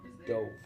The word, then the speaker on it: Dov: pronounced Dove. Dove, and it's a Jewish name.